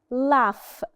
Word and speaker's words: laugh: opposite of cry is laugh laugh so the last sound is f sound so the GH here are said as F laugh laugh and we